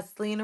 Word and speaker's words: Sylina: can find me uh Selena Selena s y l i n a spell you can think of my name as Selena Gomez but it's spelled differently uh s y l